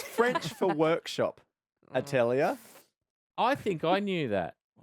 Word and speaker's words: atelier: You pronounce it like this. Atelier once, atelier.